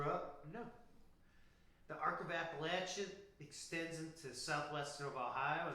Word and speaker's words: Appalachia: The Arc of Appalachia extends into southwestern of Ohio, and they love to pronounce Appalachia. Appalachia. I don't know why. You go to Appalachian State, that's how they want to say it.